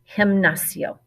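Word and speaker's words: gimnasio: a g sound there this is actually a h sound hemnacio gymnasium our next place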